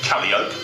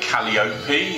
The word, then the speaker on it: Calliope: In the southern states of America, in New Orleans, they say Caliope, and the Greeks say Calliope, and we tend to say Calliope, but it's an ancient Greek word, so nobody really knows how it should be pronounced.